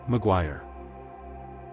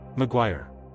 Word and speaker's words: Maguire: A common pronunciation is Maguire like wire with a gw start. Maguire. Say it. Maguire again.